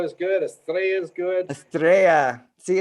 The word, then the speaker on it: Estrella: have Kevin Estrella, and I'm saying it right, Estrella? It's good anyway. What's the right way? Because I was like, it's Spanish, it's double L. It's star. I mean, star. Good. Estrella is good. Estrella is good. Estrella.